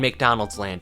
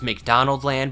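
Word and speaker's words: McDonaldland: place between Earth and McDonald's land its proper pronunciation is McDonald Land but that sounds significantly Dumber so we're not going to call it by the correct name McDonald's land is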